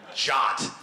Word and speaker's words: JWT: uh yeah it's it's jwts how would you pronounce that yeah you say that like that's a reality right jot so someone I actually in research of this